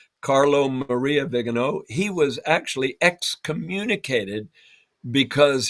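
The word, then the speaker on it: Viganò: In fact, one of them uh Carlo Vegano, I believe is how you pronounce his name. Carlo Maria Vigano, he was actually exccommunicated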